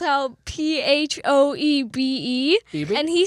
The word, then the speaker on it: Phoebe: you know it's pronounced Phoebe.